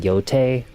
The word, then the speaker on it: Yotei: It's It's It's weird that they pronounce it yote. I really want to call it yotai.